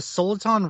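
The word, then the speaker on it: Soliton: going to mispronounce this the sultan radar is that how you say it correct yeah yeah you got it yeah you can do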